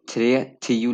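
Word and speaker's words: trettio: तो आप यहाँ पे देख सकते हैं कि यहाँ पे थ्रेथियू लिखा हुआ है, लेकिन थ्रेथियू इतना कहते हैं प्रोनाउंसिएशन, थ्रेथियू नहीं बोलते हैं, यहाँ पे थ्रेथी बोलते हैं, मतलब जैसे ओ बेसिकली साइलेंट होता है, तो थ्रेथी।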